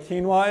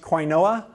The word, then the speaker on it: quinoa: jokes about quinoa because ninety percent of the American public has no idea what keen why is and of the people who do know what quinoa is half of them think is pronounced quay Noah as a result the